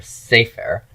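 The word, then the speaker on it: סֵפֶר: long ser a and the accent is on that first root letter say fair and when I add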